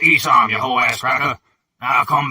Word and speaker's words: Isom: It's pronounced Isom, you whole-ass cracker.